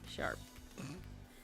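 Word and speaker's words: Charp: Harangon, blame, and his name is Sharp. Yeah, Soup, it is your fault. It's from a while ago. But this is Sharp, and he's great. He came out great. He's looking sharp. His name is spelled C-H-A-R-P.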